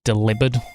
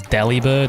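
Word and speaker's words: Delibird: But I'm pretty sure like the official pronunciation is deli bird anyway.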